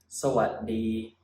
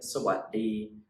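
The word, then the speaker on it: สวัสดี: So a lot of people pronounce this word sawadee, sawadee khap, sawadee khap, which is fine, that's also fine. But if you want to say the word, if you want to sound more Thai, then it must be pronounced a little bit differently. When you say sawadee, at the what part of the word, you actually stop the sound and you put your tongue on the roof of your mouth like this.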